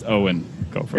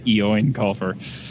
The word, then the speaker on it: Eoin Colfer: Eoin Colfer, or how his name, I think, wants to be pronounced, Eoin Colfer. It's 15 years of conditioning. 15 years of Andrew not hearing it and reading it only and thinking it's Eoin Colfer.